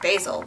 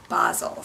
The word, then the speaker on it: Basel: trip to Art basil I used to call it art basil but then I was watching YouTube videos about it and it's art basle so say it right folks okay um anyway